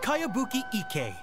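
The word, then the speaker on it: Kayabuki Ikkei: name who's this cowabunga it's pronounced kaiabuki ek that would be me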